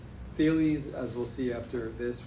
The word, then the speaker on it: Thales: It's pronounced Thales.